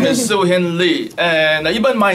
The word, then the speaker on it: Siu Hin Lee: afternoon good after everyone so my name is su Hindley and I even my name the how to pronounce su Hindi it's a caronia British colonial